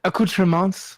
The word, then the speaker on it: accoutrements: It's like accoutrements with the plural. I think that's just how they say it in French. Oh, Yeah. okay. Yeah. All The right. S is supposed to be silent, I think.